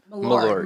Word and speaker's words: Malort: Malort.